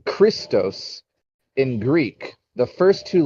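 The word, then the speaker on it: Χριστός: the idea that uh christ was once pronounced uh christos in greek uh before english american speaking people said christ it was formally pronounced uh christos and it has the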